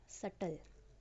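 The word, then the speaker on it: subtle: एथ word is सल। इसमें बी साइलेंट है हमारा।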